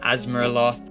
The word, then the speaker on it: Azeroth: as grth the warlands Azeroth pronounce that asaroth and finally oldo um